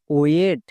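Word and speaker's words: wait: এবার আইটাকে সাইলেন্ট করে দেব, এর উচ্চারণ করার দরকার নেই। এবার টি এর জন্য টো, তাহলে কি হলো? ডব্লু আই টি ওয়েট।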